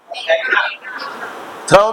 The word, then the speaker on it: through: थ्रो थ थ्रो right थ्र थ थ्र मीस थ्र मीन फेंकना थ मीन फकना एंड थ्रू मीस